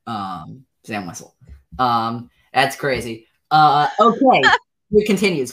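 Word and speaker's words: Zam Wesell: Literally every other guest I've had on this show has also pronounced it Zam Wessel, because that is indeed the correct pronunciation.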